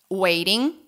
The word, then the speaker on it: waiting: Strangers, waiting. Isso, vira som de T, de Rá, tá vendo? Waiting. Isso.